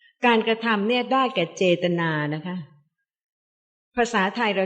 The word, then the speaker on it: เจตนา: จริง ๆ แล้ว เนี่ย ภาษา บาลี ใช่ คำ ว่า เจตนา เขียน เหมือน กัน แต่ ว่า ภาษา บาลี ไม่ ได้ อ่าน ว่า เจตนา เพราะ ว่า ไม่ ใช้